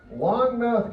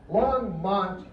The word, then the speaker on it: Longmont: Longmouth, Colorado. Did I say that right? No, I said it right. Longmouth, Colorado. Longmouth, I'm sorry. Longmouth, Colorado. Okay? Longmont, Colorado. And where about you?